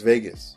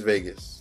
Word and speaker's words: vagus: The way to remember this one is vagus rhymes with anus, used for defecation, with a slow heart rate of 10 beats per minute. Cranial nerve number 10 is vagus.